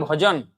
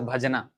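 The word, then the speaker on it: ভজন: Jodi kore, Krishner bhajan. Bhajan. It's not pronounced as bhajana. Bhajan. Not bhojan. Bhajan.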